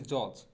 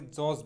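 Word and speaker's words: judge: বিচারক ইংরেজি আমরা সবাই বলি, এটাকে বলি জজ। অনেকেই এটাকে জজ বলি। সঠিক উচ্চারণটা মোটেও জজ হবে না, সঠিক উচ্চারণটা হবে হচ্ছে জাজ।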